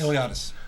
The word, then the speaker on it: Iliadis: Iliadis. Okay. Ilatis. Okay. Like Iliad, you know the the I know.